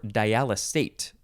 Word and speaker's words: dialysate: in this episode is dialysate dialysate or diala state s or z sound this one is spelled